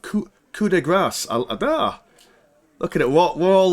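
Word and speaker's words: coup de grâce: how you pronounce I I always thought it's called Coupe De Grace but coup de grace looking at what we're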